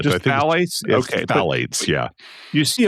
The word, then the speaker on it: phthalates: Yeah, the ph is silent. Just phthalates?